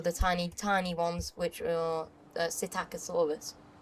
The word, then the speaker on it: Psittacosaurus: tiny ones, which are Psittacosaurus, because P is silent.